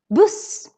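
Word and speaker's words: buss: on the other hand we also have the word puss bus here we have more than one consonant coming after we have actually two so that's why the u becomes really short let's say these two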